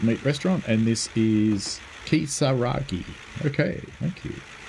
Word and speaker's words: Kisaragi: So I should really just say it how it's spelt, because that generally is how the Japanese use of Roman letters works. So just generally speaking, it's pronounced the way it's spelt out phonetically.